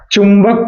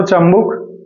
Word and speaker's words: चुंबक: और मैग्नेट को हिंदी में चुंबक कहते हैं। ठीक। चुंबक राइट जिसे आप गांव देहात के भाषा में आसानी से आप बोलते रहते हो चुंबुक जिसे हम लोग सही उच्चारण क्या है चुंबक सो फन विद मैग्नेट्स